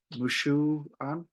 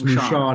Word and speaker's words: Moushon: Moushon. Is that right? No, No, that's okay. It's absolutely wrong. Moushon. It's Moushon. Moushon. It's a difficult French name, so that's okay.